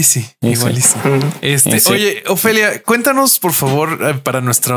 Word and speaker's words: Ophelia: Oye, Ofelia, cuéntanos por favor para nuestra audiencia dónde te pueden encontrar, te pueden escuchar y ver.